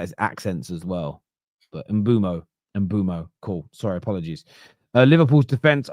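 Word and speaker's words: Mbeumo: The pronunciation police are here. That says say that it's Mbumo, not Mbumo.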